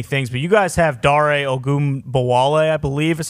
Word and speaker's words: Dare Ogunbowale: But you guys have Dare Ogunbowale, I believe is how you pronounce his name.